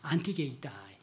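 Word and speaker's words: ἀντίκειται: 하야라고는 안티라고 발음하는데 안티게이다이.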